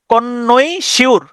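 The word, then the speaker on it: connoisseur: তাহলে সি O double N ও আই এস এসই ইউ আর কনইশিউর। আপনি এভাবে উচ্চারণ করতে পারেন।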